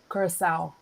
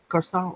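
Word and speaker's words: Curaçao: How do you say it? Curacao. Curacao. Okay. Because it's the C with the on the Yeah, yeah, bottom. yeah. Yeah. Okay. And that makes an S.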